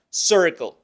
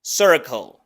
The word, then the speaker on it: circle: puede ser un problema aquí pronunciamos la c igual que en español y la i se pronuncia con el mismo sonido que pronunciamos jerk la e abierta redondeada boca de Trump e enseguida pronunciamos la c igual que en español y luego pronunciamos algo que se llama Dark l que es como una l del español pero con la lengua más hacia atrás es un sonido retroflexo